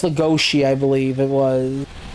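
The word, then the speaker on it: Lugosi: Yeah, it's Lagosi, I believe it was.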